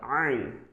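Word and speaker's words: عين: Here the same letter ain, ain, ain. It will be pronunciated with the help of throat. It's called throatical alphabet. So you'll have to pronounce it from your throat.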